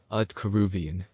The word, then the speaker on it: Aaiyyan: This is the whole yantra, and it is pronounced Aaiyyan.